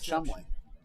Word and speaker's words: Cholmondeley: I have a feeling oh they pronounce that Chumley until we get the British people make no sense keep your mind on